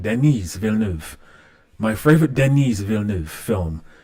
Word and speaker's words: Denis Villeneuve: Favorite Denis Villeneuve. I'm saying it wrong. Denis Villeneuve.